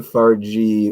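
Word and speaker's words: Fargeat: love you Coral Le far G with a hard G like Gizmo okay Coral Le farg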